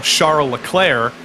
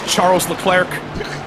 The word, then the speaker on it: Charles Leclerc: might call Charles Leclerc, when he introduces himself in like English interviews, he goes, "Hi, my name is Charles Leclerc." Does he really? I think Charles Leclerc, I think, is what he does, but he doesn't say Charles. He says Charles.